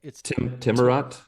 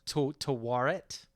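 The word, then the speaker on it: Taweret: And I still don't know how to pronounce this name. It's like Timurat? Tawaret.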